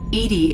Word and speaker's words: EDI: E.D.I is the phonetic pronunciation of E.D.I.